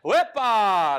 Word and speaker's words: EPA: So, I pronounce that as "epa". It's kind of like a Spanish like celebration.